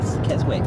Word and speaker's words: Keswick: Keswick, it's spelled Keswick.